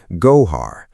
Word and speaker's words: Gójar: 4.8 and an epicenter near Gójar, pronounced Gójar, a town beside Alhendín, pronounced Al Lendín, just south of Granada city.